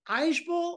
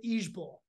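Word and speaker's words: IJBOL: outs and we're seeing a new abbreviation uh pronounced Irish Bull or each bull i j b o l and that stands for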